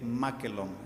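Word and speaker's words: μάκελλον: este pasaje para carnicería es maquelon con doble l makelong es la manera como se pronuncia macken y significa bueno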